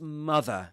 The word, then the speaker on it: mother: Go home to your mother, Potter. Go home to your mother, Potter. Go home to your mother, Potter. It's mother in this accent, not mother. Or mother, not mother.